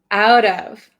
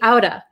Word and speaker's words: out of: out of buying but if i say it like uh in natural conversation i might say my parents talked me outta my parents talked me